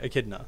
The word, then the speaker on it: echidna: echidna okay you're right that totally sounds right echidna thank you john echidna is the word that we call that from pronunciation text chat again though honestly uh as